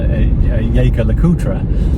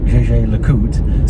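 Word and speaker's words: Jaeger-LeCoultre: Now, I've called them Jaeger LeCoultre for a while, and but I'm sure I heard an employee of JJ LeCoultre speak recently, and they said JJ LeCoultre, so perhaps that's the correct pronunciation.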